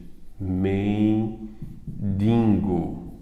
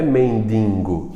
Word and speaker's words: mendigo: no que é um mendigo exatamente me vingo a pronúncia errada motivando você a escrevi errado não é mendigo é o quê gente mendigo então coloquei para vocês